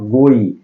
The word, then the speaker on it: goe: जैसे चैप्टर के ऊपर ही आप लोग देख रहे हैं, लिखा हुआ है sweetest love I डू नॉट गोई। ये गोई लिखा है, लेकिन इसको गो पढ़ेंगे, क्योंकि ओल्ड इंग्लिश के